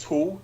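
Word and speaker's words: Thule: the tool it was it's pronounced tool it's t-h-u-l-e the tall tachometric device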